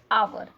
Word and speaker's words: hour: We write with h but we read it hour, not hour.